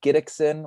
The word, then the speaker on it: Gidicson: g i d i c s i n gidexin which is you know it's kind of a hard name to pronounce so that's probably the best platform um